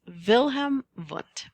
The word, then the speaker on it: Wilhelm Wundt: Google Earth fun fact the letter W is pronounced as a v in the German language so the father of psychology is known as vilhm V now I want to